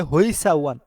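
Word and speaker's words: 회사원: দুইটা বিতর্ক আছে সেটা হচ্ছে কেউ এটাকে বলে হইসা ওয়ান আবার কেউ বলে হেসা ওয়ান তবে কোরিয়ানরা এটাকে উচ্চারণ গুলা বলে থাকে হেসা ওয়ান অর্থাৎ হিসা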